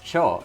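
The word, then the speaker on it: 丁: Oh yeah, that's Cho. That's how you pronounce that kanji.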